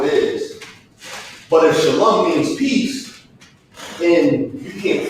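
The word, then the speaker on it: שלום: Shalom.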